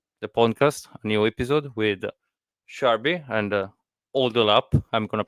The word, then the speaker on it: Sharbi: welcome to the pcast a new episode with sharby and old up I'm gonna pronounce it wrong every time you did you